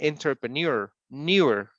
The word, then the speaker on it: entrepreneur: Or sometimes you will hear people saying entrepreneur newer. It's okay, no problem. You mhm, can also say it like that.